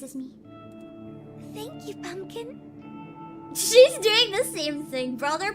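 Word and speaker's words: 四: with death usually because four can be pronounced as she um yeah she's on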